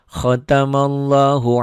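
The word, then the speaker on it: ختم الله: Yang itu tadi yang baru akan baca khatamallah jadi pendek, padahal enggak, panjang tetap ya. Khatamallahu ala, ini mad aslinya tetap seperti ini.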